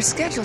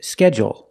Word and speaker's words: schedule: But um what if your schedule changes? And some people pronounce it differently. They say schedule. schedule. And they put the stress only on the first syllable.